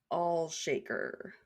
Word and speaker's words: Olshaker: Olshaker? That one's a bit harder to say. It looks like Allshaker with an O.